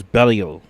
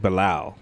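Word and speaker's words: Belial: Oh, it's Bellio. That's how you pronounce it. I've been saying Balo.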